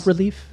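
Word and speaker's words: bas-relief: bas relief, actually. That's what Till says. Thanks, Tim. He's so educated, Till. You know, But it's got an S in it. It's a French S.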